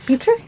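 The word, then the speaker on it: Pitre: Dr John berma and bran Peter and it's Peter is how you say it's a Catholic introduction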